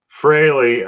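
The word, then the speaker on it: Frehley: So, of course, uh uh condolences go out to the Freely family. Was Freely his real name? Freley.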